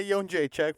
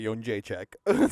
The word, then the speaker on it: Jędrzejczyk: It's Joanna Jędrzejczyk, former strawweight champion of the UFC.